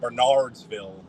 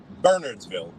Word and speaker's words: Bernardsville: Bernardsville I said it I said it wrong when I was with them I said Bernardsville and uh they correct the RS and corrected me and said Bernardsville but it took me